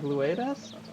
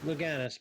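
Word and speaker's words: Louganis: Then I will just say, Greg Louidas? Luganis, but yes.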